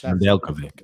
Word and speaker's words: Nedeljkovic: Nedeljkovic. I'm guaranteed I mispronounced it, but we're getting super comments here. Nedeljkovic. Nedeljkovic.